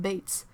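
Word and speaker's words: Beites: a franco-ontarian teacher whose last name was pronounced bates spelled bei tes yeah that's something really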